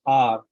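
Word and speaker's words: hour: thank you so and spelling is h o u r but the if you look at the pronunciation it's r right it is spelling it is starting with o sound r similarly some other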